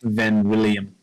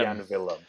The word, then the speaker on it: Jan Willem: a post meeting with Van William. Is it Jan William or Van William? Van William. I'm pronouncing it Jan Willem. Jan Willem. Because a J in German is a Y sound, Evan.